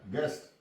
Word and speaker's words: guess: गेस्ट, GUESS, यहां भी यू के बाद ई आ गया है, यू साइलेंट।